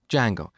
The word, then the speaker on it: Django: So, it's spelled with a silent D and it's pronounced Django.